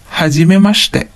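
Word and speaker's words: はじめまして: So notice that the I in the shi syllables become silent. Hajimemashite.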